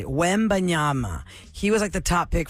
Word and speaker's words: Wembanyama: Wembanyama. Wembanyama. That's how you say it. Wembanyama.